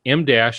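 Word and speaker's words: em dash: Emdash, and it's spelled E-M, but it refers to the letter M.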